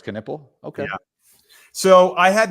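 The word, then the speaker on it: Knueppel: and how you know how his name is pronounced though what canle oh it's canle okay yeah so I had that Walter Clayton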